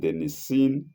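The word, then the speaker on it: Nicene: Nissit by Atonius and Nissin Creed, not Nissen.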